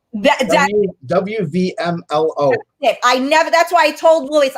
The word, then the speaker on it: WVMLO: WMLO, right? That's how you say it? You missed the V. WVMLO.